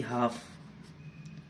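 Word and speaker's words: half: ऐसे ही हाफ, इसमें भी ए के बाद में एल आ रहा है, इसका कोई साउंड नहीं आ रहा है।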